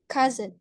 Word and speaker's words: cousin: Yang sepupu, we read it as cousin. Cousin. So it kind of changes the word S atau huruf S jadi a little bit Z.